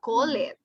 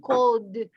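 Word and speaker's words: called: You don't say call it. You don't say cold. No, cold. Like a D.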